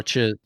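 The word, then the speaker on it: Chiss: Is it cheese? I always say it wrong. Cheese? Whatever, his type of people. Oh, chiz.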